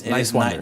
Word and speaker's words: Niswander: Talking to Dan Nowman Niswander. But it's Niswander. just think nice and wander. Niswander.